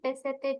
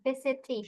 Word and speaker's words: visited: Oke, kalau ini dibacanya ada bunyi ed-nya sih, Ririn. Visited.